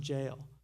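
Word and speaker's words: gaol: It looks like Goal, G-O-A-L, even though it's pronounced jail.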